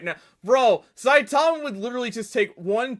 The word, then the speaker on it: Saitama: least temporary limits of his own power but saitama from one punch man is a to it's